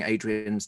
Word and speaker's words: Adrienne: But when I came out, my mom said it was Adrienne, and I've just gone with that for the last almost 50 years.